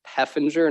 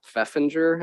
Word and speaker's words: Peffinger: shelter manager turns out i've been mispronouncing robin's name for like five years so it's peffinger not feffinger i just realized that